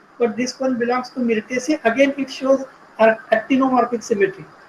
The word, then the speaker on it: Myrtaceae: Yes, pronunciation may be wrong, but I think you are correct. Which one? Mitraceae. Myrtaceae, Myrtaceae, Myrtaceae.